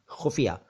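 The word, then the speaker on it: ख़ुफ़िया: खुफिया, नुक्ते तो दोनों ठीक हैं, ख के नीचे भी और फ के नीचे भी, तो छोटा ऊ की मात्रा है, बड़ा ऊ की नहीं है। खुफिया नहीं, खुफिया।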